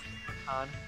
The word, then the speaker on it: Mikan: It's Mi- gone. My Con. Con! There she is. Wow, she's Pronounced Mikan.